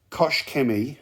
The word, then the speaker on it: Koch Chemie: haven't used it yet kosh kemi with a t koch with a t you get the proper essex pronunciation here on this channel geezers